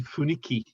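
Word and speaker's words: 雰囲気: Yeah, but it's actually funiki, isn't it?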